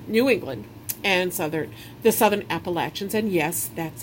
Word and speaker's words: Appalachian: New England and the Southern Appalachians. And yes, that's how that's pronounced.